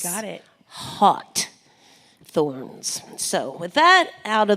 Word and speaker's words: HawtThorns: And it's kind of like haughty, like haughty, like HAWT, and then THORNS. You got it. HawtThorns.